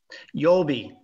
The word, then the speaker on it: Yolbi: How do you say your company name? Yolbi. I got it right. You did get it right.